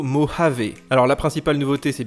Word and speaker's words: Mojave: le nom de code ne se prononce pas moya vos mots jav mais plutôt mojave alors la principale nouveauté